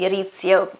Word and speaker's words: Rizzio: i'm talking about david rizzio or david david rizzo or ezio but the right pronunciation pronunciation should be arizo because he was italian from um and he